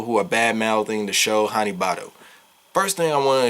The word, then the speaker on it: Hanebado: right off the rip, the BAD in Hanebado is not for bad show. I've seen that way too many times, and that literally has to be a retarded argument. B-A-Ba-D-O, do. It's a pronunciation thing.